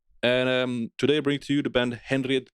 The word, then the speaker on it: Henriette: No, Henriette? it's en. Maybe. The H is silent.